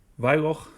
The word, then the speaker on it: Wyloch: Vylok is spelled Wyloch.